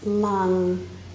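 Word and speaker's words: LAM: And the seed sound for the first chakra is lung, L-A-N. It's actually L-A-M, but it's pronounced lung.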